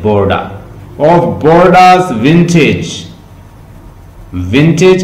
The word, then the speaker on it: Bordeaux: Fro Bordeaux ward while that the chapman sleep of Bordeaux, Bordeaux, Bordeaux, इसकी pronunciation है Bordeaux, लिख लें Bordeaux की इंग्लिश, ये Bordeaux